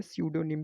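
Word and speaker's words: pseudonym: तो इसमें जो इसकी जो करेक्ट स्पेलिंग होती है वो यही होती है, स्यूडोनिम की पी, देन आपका SUDONYM, ठीक है, स्यूडोनिम, ये करेक्ट इसकी स्पेलिंग है।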